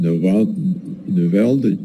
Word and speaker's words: Navalny: It's not just that Navalny person, I forget his name, how do you pronounce his name?